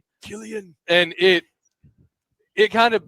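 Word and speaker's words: Cillian: you get the final shot of Silsian or Killigan. I never know how to pronounce Killian Murphy looking up and he sees that airplane Killian.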